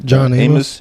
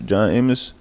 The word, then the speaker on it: John Amos: How you pronounce? John Amos. John Amos.